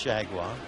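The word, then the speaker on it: Chargois: h a r g o i s correctly pronounced shaguar Blue Jays with two here in this seven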